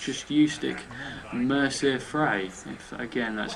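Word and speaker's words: Mercer Frey: can't help you out so it's just youti Mercer fry if again that's how you pronounce his name um you can say whatever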